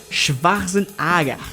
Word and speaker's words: Schwarzenegger: O que você talvez não saiba é que a pronúncia correta de seu sobrenome é Schwarzenegger.